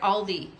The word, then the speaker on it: Aldi: got at Aldi today I said it right Aldi a l d i there's no s at the end hope H anyway so